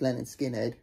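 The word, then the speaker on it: Lynyrd Skynyrd: So yes, if you find a good clean copy of Leonard Skinner's, pronounced Leonard Skinner, you're a very, very lucky person, because it sounds incredible.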